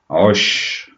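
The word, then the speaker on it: عش: Osh, osh, composed of ayn and a sh. Notice the sh sound at the end of the word, osh.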